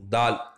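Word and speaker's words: ذال: இந்த கதவுல இருக்கிற உச்சரிப்பு தான் இந்த தாலுக்கு உண்டான உச்சரிப்பு, தால். அடுத்த எழுத்து, இதே எழுத்தில் வந்து புள்ளி இருக்கிற எழுத்து. இந்த இதை எழுத்தை எப்படி உச்சரிக்குன்னு சொன்னால், நம்முடைய நுனி நாக்க நுனி பல்லில் வச்சு தால் அப்படின்னு உச்சரிக்கணும், லேசாக வரும் இது.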